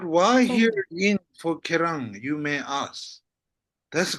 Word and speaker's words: ཁྱེད་རང་: Kerang.